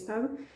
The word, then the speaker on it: estado: But I don't say, remember the verb estar in Portuguese, we often don't pronounce the beginning of the word, so we skip the sh and we just say tão, estado, in this case estado.